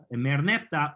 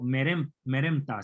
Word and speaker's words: Merneptah: Israel es mencionado en la estela de Merneptah o Meremta, se pronuncia de las dos maneras, porque no se sabe dónde están los vocales.